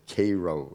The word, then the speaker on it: Caro: day and boy says Mr KO they all call it pronounce it Koo in Texas Mr Koo this is